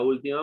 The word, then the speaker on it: última: Resalta un hecho que le llamó la atención en la última marcha el 24 de marzo. Última, ¿qué le falta? Tilde, la U. Porque es, ¿recuerdan? Es esdrújula. Esdrújula. Esa es drújula, última, siempre lleva tilde.